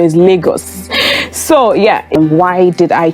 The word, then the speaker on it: Lagos: That's what you people say, Lagos, but the correct pronunciation is Lagos.